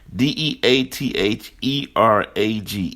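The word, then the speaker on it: Deatherage: Death E-Rage Mitchell. And when I say Death E-Rage, her middle name, Deathereage, when you break it down in syllables, a.k.a. Death Rage Mitchell.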